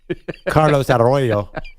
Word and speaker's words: Carlos Arroyo: Carlos Arroyo. That was pretty good. That one. That one works. Good roll of the R.